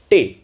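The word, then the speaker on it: Tee: I drink टे। टी को German में टे बोला जाता है।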